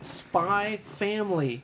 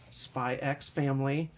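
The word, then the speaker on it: Spy × Family: savior the one and only today we're covering spy family it is not spy x family sure yeah yes don't do it just like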